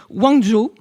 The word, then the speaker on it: Guangzhou: J'ai aussi regardé, j'ai répété ce matin sur la prononciation chinoise, j'ai regardé des vidéos. Donc c'est Guangzhou, mais qui est en fait assez loin de